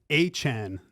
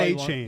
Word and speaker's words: Achane: Waddle's back, so now you have to Devon Achane, not A-Chain. That's what wants to be pronounced A-Chain.